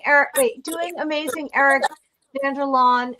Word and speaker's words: Vanderlaan: Eric Vanderlon. How do you say your name so I say it right? You know you said it perfectly right.